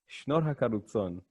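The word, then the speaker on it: շնորհակալություն: Shnor HaGalutson.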